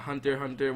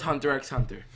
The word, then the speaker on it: Hunter x Hunter: You got Hunter x Hunter. Well, Hunter x Hunter, but the X is silent.